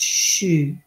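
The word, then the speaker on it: xu: And surely I posted it earlier, but if you can post it again, the sound for the universal sound for the wood element is shu, X-U, pronounced shu.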